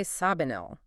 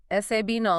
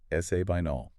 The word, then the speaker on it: Sabinal: So, it's spelled s a b i n a l. You do not say sabinol.